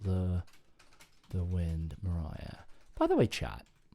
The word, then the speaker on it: Maria: uh I sorry sorry it's pronounced Mariah but it's spelled Maria is that right Mariah right okay okay